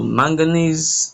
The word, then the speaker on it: manganese: So manganese the N the E is more stressed.